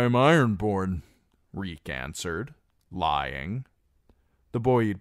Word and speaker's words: Reek: "Reek, I'm Reek. It rhymes with squeak."